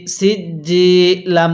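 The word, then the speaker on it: سجيل: হ্যাঁ এরপরে সিনজিম জের সিজ্জি ইয়া জের জি সিজ্জি লাম দুই জের লিন সিজ্জিন এখন যদি আমি এখানে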